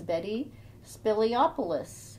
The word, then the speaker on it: Mantis Spiliopoulos: today I have the honor of interviewing Elizabeth, also known as Mantis Spiliopoulos. How did I do? Did I pronounce that okay?